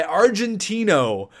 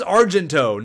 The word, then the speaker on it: Argento: I called this guy Argentino or something, and it's absolutely ridiculous. His name is Argento, not Argentino or anything like that. It is Argento.